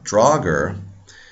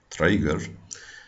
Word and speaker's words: draugr: Now, Draugr is not the correct pronunciation. In modern Icelandic, it would be Draugur. In Old Icelandic, probably much more similar to Draugur, and there's actually a separate plural form.